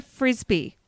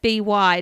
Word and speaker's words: Frisby: And there was a guy, Roger Frisby. And it's not... What? Yeah, it's not spelled like Frisby. I love that. I know. It's Frisby, not a Frisbee E.